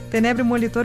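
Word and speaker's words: Tenebrio molitor: Acertei agora a pronúncia. Molitor. Tenébrio molitor.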